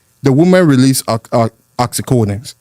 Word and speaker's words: oxytocin: The oxycodone, how do you say? Oxytocin. Oxytocin, yeah.